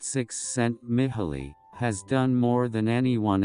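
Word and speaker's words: Csikszentmihalyi: willpower this psychologist me hile cheek sent me high pronounced six sent mithily has done more than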